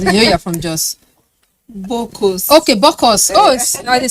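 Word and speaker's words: Bokkos: Kobos. Well, okay, remind me how they pronounce it. You're from Jos. Bokos.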